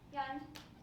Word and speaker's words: Jan: So, Jan Almasy, looks like Jan, pronounced like you're about to fall asleep.